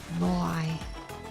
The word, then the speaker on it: Moai: Those eyeballs should be Maui heads. Moai.